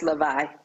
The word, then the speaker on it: Lavii: Okay, did I pronounce that correct? Is it Lavii Lockers? No, it's Lavii.